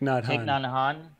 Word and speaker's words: Thich Nhat Hanh: Thich Nhat Hanh. Thich Nhat Hanh.